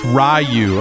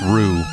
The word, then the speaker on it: Ryu: Next, you're gonna try and tell me it's pronounced Ryu. Like what? You know what? We all know it's pronounced Rue.